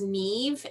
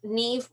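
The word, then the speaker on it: Niamh: want to do the i think it's pronounced neve n-i-a-m-h um neve by andrea no excuse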